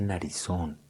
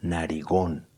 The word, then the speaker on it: narigón: Y yo lo llamaba y le decía, venga, no se dice narizón, se dice narigón.